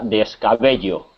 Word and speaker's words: descabello: Lo, Eso es, se pronuncia descabello. descabello. Se pronuncia igual que si fuera, en lugar de doble L, como si fuera una Y, también se pronuncia igual, ¿no?